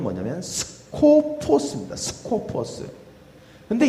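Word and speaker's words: σκοπός: 근데 이 헬라어의 원래 그 발음은 뭐냐면 스코포스입니다. 스코포스.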